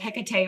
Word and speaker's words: Hecate: And I have a restaurant called Hecate or Hecate's Cauldron, depending on how you want to pronounce that.